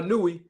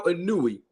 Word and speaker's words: Inoue: And what's real right now is that Inoue moved up to this weight division, and now he is unified as the WBC and WBO champion of the world.